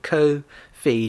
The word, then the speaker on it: Ko-fi: They said on their Twitter, it said Ko-Fi to rhyme with no fee.